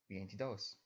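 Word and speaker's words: veintidós: While normally stress would fall onto the second to last syllable, the T in vientidos, in this case, it's the last syllable with emphasis, or dos, vientidos.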